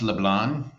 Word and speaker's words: LeBlanc: Atticus uh you know the Cajuns don't pronounce the C but most other people do so it's just fine Toby so it's pronounced LeBlanc LeBlanc LeBlanc you just pretend you're a Frenchman my brother's down there